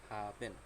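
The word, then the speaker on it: haben: তাহলে এটা একটু দেখি, হা উন্ড আ, হা। তারপর হচ্ছে বে এ এন, বেন, দুটো মিলে কি হলো? হাবেন।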